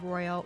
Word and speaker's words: Roil: everyone in the audience royal is spelled r-o-i-l not like a royal flush like the roiling of water or the sea and it is a